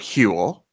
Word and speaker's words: Huel: It's a brand new year, and so we're talking about Howell, which is spelled Huel, and their Black Edition